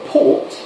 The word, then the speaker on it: port: So when we say the word for a port, it's Port. port. So when you've got ORT on its own like that, it's port. Port.